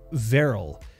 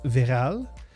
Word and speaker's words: Verrill: Luke, my surname is Verrill. It rhymes with barrel. In French, it is often pronounced Verral, but it is Verrill.